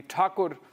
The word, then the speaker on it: Tagore: campaign issue uh on the pronunciation of Rabinda Takur uh you know the the Bengales prefer to call him Tagore uh originally Takur and uh in Hindi I think they still call him Rabinat Takur but in English it